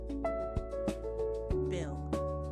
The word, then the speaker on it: bill: Bill, short I, rhymes with fill, not bell.